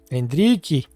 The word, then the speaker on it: Endrick: Endrick. 2-0. And this is exactly what we wanted. What a day for Endrick. Endrique. That's the name, the pronunciation in Portuguese.